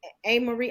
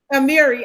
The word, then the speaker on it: Amiri: I want A Marie. I'm sorry. How you pronounce it again? Amiri. I'm sorry, Amiri.